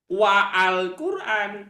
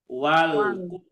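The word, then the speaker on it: والقرآن: nah Bacanya apa Wal Nah jadi jangan wa Alqur'an tapi Wal Quran nah itu yang disebut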